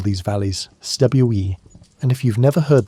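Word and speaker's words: cwm: The Welsh call these valleys stwe. And if you've never heard that word pronounced properly, you're missing out on one of the languages most satisfying sounds. It rhymes with boom, but starts with a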